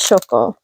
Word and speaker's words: Shoko: Is her name Shoko? Am I saying her name wrong? No, it is Shoko.